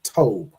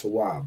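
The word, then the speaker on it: טוב: So he would say tob to be good. But we know it derives from the root tawab, so we know it's still pronounced tawab, right?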